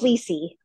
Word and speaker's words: Lissy: So Lissy, am I pronouncing that correct? Lissy from Silver Spring. Pardon? Hi, it's Lissy.